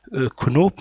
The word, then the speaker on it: Knoop: Knoop, ça s'écrit Knoop, mais s'appelle Knoop.